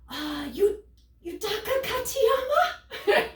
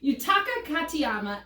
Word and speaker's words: Yutaka Katayama: So I'm sweating, I'm like heat stroking out, and I'm all like, Yutaka Katayama, which is actually how you say it. Yutaka Katayama, aka Mr.